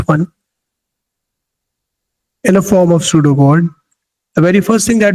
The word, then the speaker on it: pseudocode: This is the short form of algorithm, algo, using pseudocode, P is silent, pseudocode, which input marks of 10 students.